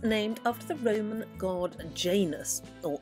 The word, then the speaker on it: Janus: is of course named after the Roman God Janus or yanus as actually is pronounced who is a doubleface god with one